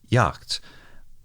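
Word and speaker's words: Jagd: this mobile suit that German word spelled j a g d is pronounced something like Yak which makes it very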